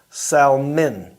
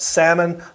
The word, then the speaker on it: Salmon: Not salmon, not Did we salmon. have this discussion? I felt The like fish. Yeah. Mark cannot not pronounce the L. After me telling him many times, the L is silent.